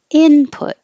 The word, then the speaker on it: input: your lips put and stress on in and out input output and hold the t's